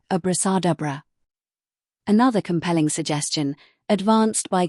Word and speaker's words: abracadabra: It is generally agreed that the word was properly pronounced abrasadabra.